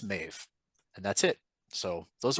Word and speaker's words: Maeve: Tanya pronounced a name as Mauve when it's Maeve, and that's it.